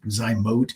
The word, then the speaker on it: Zymot: Some call it Zymote. I think Zymote is technically the correct pronunciation, but we're lazy around here, so it's easier for us to say Zymot.